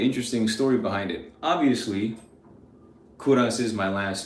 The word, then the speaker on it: Kovras: So I did the same exact thing, put the V where the U is, so now it's spelled like KOVRAS, but it's still pronounced Kouras.